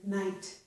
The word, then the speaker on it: night: G plus H plus T results in a silent G plus H, and we hear only the T, so we get a T sound, as in night.